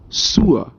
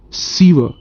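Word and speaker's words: sewer: word s e w e r the correct pronunciation is sua not siva and it means drainage okay so let's start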